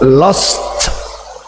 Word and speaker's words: lost: So lost Try turn it on here.